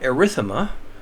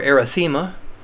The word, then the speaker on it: erythema: another skin color thing we've got erythema or erythema pronounce it any way you want to I think erythema is the more traditionally pronounced and I actually usually say a rhythm ax just my personal preference but there you can